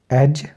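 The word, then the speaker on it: edge: डी को निकाल देंगे तो जैसे बजट एज ग्रज ब्रिज क्योंकि जी के पहले आया डी तो डी को हमने साइलेंट कर दिया तो बजट का मतलब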